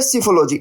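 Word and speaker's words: psephology: अगला वर्ड देखिए दोस्तों, अगला वर्ड है सिफोलॉजी। देखो यहाँ पर पी साइलेंट होगा, सिफोलॉजी हम इसको बोलते हैं।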